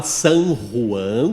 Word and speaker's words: San Juan: Então, eh, o, a gente fala San Juan com R, né, para efeitos de orientar a turma a falar corretamente, né?